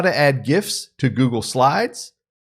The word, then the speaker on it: GIF: Yes, that's a hard G. You're getting it here first. This is my 2 cents. GIF, hard G. It's not GIFs and it's not Joogle. It's GIFs and Google.